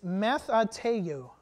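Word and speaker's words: μαθητεύω: It's matheteu, okay? Everybody say that with me. Matheteu. That's how you pronounce it.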